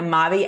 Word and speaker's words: Maavee: there tell us about Maui and what the word Maui means means it's actually really simple it means my life in French by pronunciation not by spelling so when we started